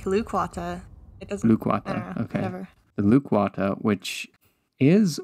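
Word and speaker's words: Lukwata: I pronounced this right loquata that sound good I think it's more like lukewata okay whatever lukewata which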